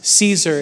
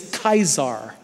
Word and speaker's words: Caesar: really how A lot of these things were pronounced right so it was it was actually not Julius Caesar it was ulius kaisar right you remember the Germans had the Kaiser